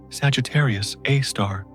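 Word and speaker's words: Sagittarius A*: Our galaxy's central black hole called Sagittarius A pars pronounced Sagittarius A star weighs about 4 million times as much as the sun.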